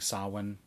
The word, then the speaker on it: Samhain: Sam yeah for celebrating saw one you know it's written Samhain but I think it's pronounced saw one so anyway this book